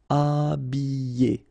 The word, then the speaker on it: habiller: Okay, remember E, double L, and then a vowel, Y. Habiller. H is not pronounced.